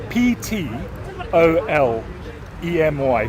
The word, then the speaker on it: Ptolemy: about the scientific scientist Ptolemy it's a weird spelling any any name that's spelled strange is difficult to remember but it's spelled p t o l e m y Ptolemy okay the ptolemaic uh